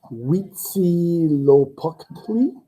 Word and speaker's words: Huitzilopochtli: We have And I will probably butcher the pronunciation of this, but it's Huitzilopochtli.